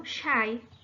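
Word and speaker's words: شيء: esse termo de coisa a palavra coisa era pronunciada como chay daí surge o x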